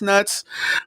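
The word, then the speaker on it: Nutz: tula highs name was mr. nuts n UT z and he was always like yeah there's an there pronounced nuts he's like no it's nuts but the funny part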